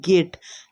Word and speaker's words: get: टू गेट, अब यहाँ पे देखो GET गेट है, लेकिन आप इसका प्रोनाउंसिएशन आप जेट करेंगे, लेकिन ये है गेट, ये है एक्सेप्शनल केस।